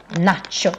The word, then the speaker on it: nacho: For example, nacho chips. Eller we do this taco techniques. So here we have nachos, but we pronounce it, of course, the Swedish way, which is quite long vowels.